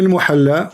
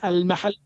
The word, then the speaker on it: al-Mahalli: Jalaluddin al-Muhalla wa Jalaluddin al-Suyuti. wrong. It is not al-muhalla. What it You is? don't understand. What it is? It is al-mahalli.